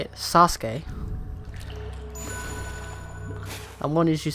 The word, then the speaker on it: Sasuke: I've heard it pronounced differently. One is that you say it Sasuke.